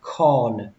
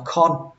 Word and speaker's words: corn: Các bạn nhớ kéo âm o ra một tí, tại vì nó có âm r ở đây, nó kéo dài ra. Corn. Các bạn đừng đọc là con. Đọc con thì nó nghe nghiệp dư lắm, nó nghe khoảng 50% thôi. Con. Mà đọc đúng là corn.